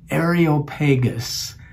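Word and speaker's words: Areopagus: also known as I learned that I have mispronounced it all these years uh and and it's known as the Ariel pagus um and and so we went there most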